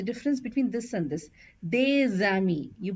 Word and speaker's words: des amis: So this will be pronounced as des amis, des amis, les enfants, les enfants. So we do a liaison and it is one single S. It has the Z sound.